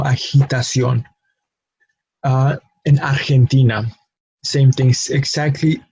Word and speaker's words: agitación: Agitación, which is agitation, and notice how the pronunciation may be very similar, agitation, agitación, but the sound, especially the sound of the letter G, is very different, no? From a G sound to a he sound, no?